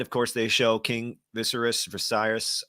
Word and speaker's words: Viserys: course, they show King Viserys. I always say his name wrong. Dying. Viserys, you're right.